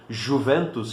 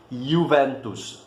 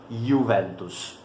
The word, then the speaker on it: Juventus: uma palavra latina, e em latim a letra J, na maior parte dos casos, vai ter sempre esse som de I. Então, nunca digam Juventus, a pronúncia correta seria Juventus, certo?